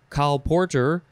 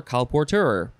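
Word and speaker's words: colporteur: is spelled c-o-l-p-o-r-t-e-u-r and you can pronounce it carl porter or calporteur and so the calportage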